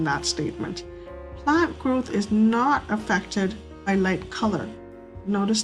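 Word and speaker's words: naught: it's actually h and this zero is actually pronounced not n-a-u-g-h-t so it's denoted by h for hypothesis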